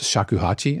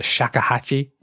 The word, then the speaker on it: shakuhachi: play this, and I'm so embarrassed because I mispronounced shakuhachi and I pronounced it shakahachi.